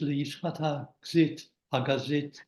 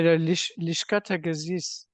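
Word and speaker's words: לשכת הגזית: and pronounced judgment, is Lishchat Hagazit No, correct pronunciation? no, Lishkat Hagazis.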